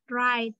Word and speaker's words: write: Contohnya kayak write. Nah, W-nya tuh dihilangin aja, jadi bacanya langsung ke R-nya, write gitu ya.